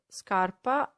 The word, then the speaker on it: scarpa: with the hard ground so scarpa something hard whereas sharpa which means scarf is something soft that you put around your neck so sharp is soft scarpa heart sharper soft if you want now